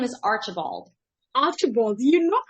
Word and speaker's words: Archibald: the last name uh please help me to pronounce it my last name is Archibald after ball do you know I knew how